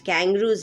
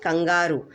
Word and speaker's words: kangaroo: Kangaroos leap. So many of us have the habit of saying kangaroo, but it's actually pronounced as kangaroo. You know, English you don't pronounce as it is written.